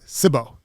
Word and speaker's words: Cibo: And the history of your pizza business and how you got into it, and your food truck, Cibo. Cibo. Cibo. Cibo means food in Italian. Okay. So actually the pronunciation is called...